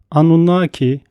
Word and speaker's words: Anunnaki: Anunnaki veya Anunnaki, Anunna, Anunnaki gibi farklı telaffuzları vardır.